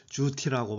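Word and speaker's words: 朱題: 중국어로는 주티라고 발음합니다.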